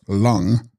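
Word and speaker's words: rlung: intermediate State momentarily Dawns text lung pronounced lung vital err or vital force or psychic Force text S gon pronounced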